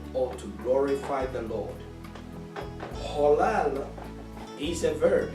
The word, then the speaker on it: halal: Halal. Halal is spelled in English as H-A-L-A-L, but it's pronounced as halal, like H-A-W-L-A-L, halal.